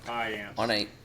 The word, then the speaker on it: Payamps: The Braves agreed to terms with right-handed pitcher Joel Payampas. Is that how you say it? Payamps? Come on, man. Payamps.